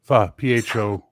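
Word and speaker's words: phở: Pho. P-H-O. Well, the O has an accent. Pronounced pho, but yeah.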